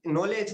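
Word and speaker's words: knowledge: द बोलने के लिए, जैसे हम देखते हैं कि कोई कोई नॉलेज बोला तो उसमें के से शुरू किया लेकिन के साइलेंट हो गया, एन का रूप आया।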